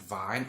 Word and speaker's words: Vine: the demon earl vine you can pronounce it vine or vein it's spout v-i-n-e so